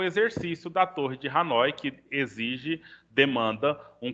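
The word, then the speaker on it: Hanói: da Torre de Hanoi Na verdade eu tava pronunciando na pronúncia francesa mas na verdade é Hanoi mesmo igual tá escrito aí a Torre de Hanoi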